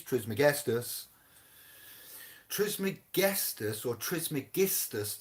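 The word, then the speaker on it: Trismegistus: guestus tris mcguestus or tris megistas to say it properly it's not it's not guessed it is tris meg dos means thrice blessed all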